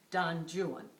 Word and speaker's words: Don Juan: not care to vaun I'll therefore take our ancient FR ancient friend Don jwan so that's that's how we know that's the way we have to pronounce it we all have seen